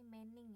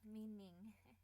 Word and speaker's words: meaning: mi Eh bukan ee ya mining Mbak Wanti bacanya tadi mening ya me sekarang ganti jadi mi meaning Oke sudah benar Ya siap sometime time ta